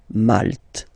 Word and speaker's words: Malte: Same thing here, you don't insist on the final E. Malte.